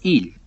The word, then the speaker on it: Elí: Kumi, y otros en el Nuevo Testamento, donde han dejado las palabras arameas. Arameo se llama hebreo en la versión de Reina Valera. Ahora, esta palabra Elí se pronuncia el o il en arameo.